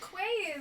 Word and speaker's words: quay: buoy and Quay um Quay is pronounced key actually okay sorry yeah it